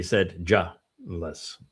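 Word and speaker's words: sedulous: Saidulus. Yeah. Sedulus is that way I pronounced it and they wanted to be said julless.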